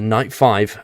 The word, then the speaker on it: Night V: new rideable EUC night V pronounced the Knight five a pair of night